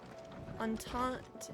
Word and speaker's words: entente: Entente is pronounced entente, more or less.